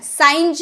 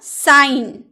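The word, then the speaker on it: sign: एन से पूर्व, यानी कि जी एन से पहले आए तो साइलेंट रहता है। देखिए एन का पहले हम लोगों ने जी लगाया है ना, तो ये साइन हो गया। साइंज बोलते हैं आप, साइंज नहीं ना, साइन चिन्ह।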